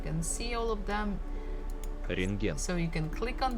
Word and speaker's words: рентген: Рентген. Рентген. Рентген. Рентген. So you see there's a bukva T in the middle of the word, but actually we don't have to pronounce it.